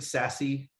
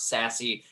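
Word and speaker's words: SASE: mean um you know i think sassy is that how they pronounce it sassy that is yeah have i have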